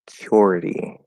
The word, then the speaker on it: security: looking this up um that the T at least in American English um in security is a flat D because it's at the start of a syllable um okay so yeah